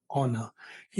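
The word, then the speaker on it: honour: फिर ऑनेस्ट या फिर ऑनर इन सब में क्या है एच साइलेंट है तो ओ से स्टार्ट होता है अव आवर ए ऑनेस्ट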